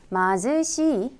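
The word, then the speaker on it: 貧しい: " 마즈시 " 라고 읽으며 한국어로 가난 하다는 뜻 입니다 .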